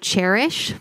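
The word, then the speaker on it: Chairish: fan of the website cherish spelled like chair is H there kind of an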